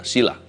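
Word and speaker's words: Cilla: Ini dari Cila, C-I-L-A ya, C-I-L-L-A, bacanya gimana? Sila.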